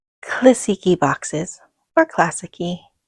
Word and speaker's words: Classiky: even looked it up, but I prefer saying Classiky. I don't know, it sounds pretty, Classiky. So we're going to go with that today. So that is how I will be pronouncing the Classiky brand today in this video, and every video that I make, I'm going to be saying Classiky, and I'll probably be